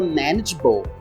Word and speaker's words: manageable: e nessa palavra manageable presta atenção primeiro na pronúncia lembra que Eu mencionei no aula anterior sobre a pronúncia do a na palavra manage e na palavra Manager Então esse a ele tem um som de i esse segundo a aí